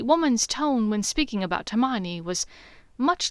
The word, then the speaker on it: Hermione: Now, I've been informed by my brother's old colleague that you and a Herman no hermine hermine. How do you say this? Hermione, Draco said with more than a bit of agitation.